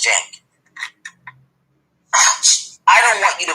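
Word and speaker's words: Cenk: And then the guys at TYT, Jenk, especially C N K is how you spell his name, but it's pronounced Jenk.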